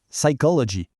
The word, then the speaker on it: psychology: Un autre bon exemple, on ne prononce pas le P au début, exactement comme en français. En fait, le P est mué, on dit psychology.